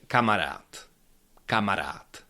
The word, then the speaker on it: kamarád: was saying the word kamarat kamarat. There's something weird happening at the end of the word and it is that this last letter duh of this word I pronounce it a little bit differently.